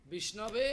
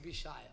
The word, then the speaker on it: Vishnave: Somebody speaking Bhavagrahi Janardana. Vishnave, Alguém somebody diz speaking Vishnaya. Vishnaya. Or wrong.